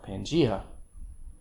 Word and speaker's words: Pangaea: that's inertia um but the next word is not pangaea's pangaea an old super continent that existed hundreds of millions of years ago pangea you know why is